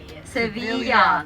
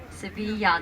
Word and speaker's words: Sevilla: Sevilla. Very good. Sevilla. The double L sounds kind of a Y, right?